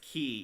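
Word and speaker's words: Kii: Her name is Ki. Yeah, the tree monster. Because it rhymes with tree.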